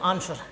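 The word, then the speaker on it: answer: क्या बोलते हैं आंसर अब देखो यहां सेम टू सेम वही है कि एस के बाद आर के पहले तो इसमें तो नहीं है लेकिन एस के बाद क्या आया डब्ल्यू तो क्या था आंसर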